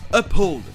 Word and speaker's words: uphold: viennent de mots différents comme dans "uphold" qui vient du mot "hold" et le "h" sera prononcé.